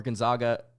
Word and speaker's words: Gonzaga: two seed pretty much but that went over Gonzaga I think man there were so many Gonzaga fans that came after me on Twitter because